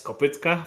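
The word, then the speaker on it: kopytka: It's pronounced Kopitka and yeah, I would say still Kopitka.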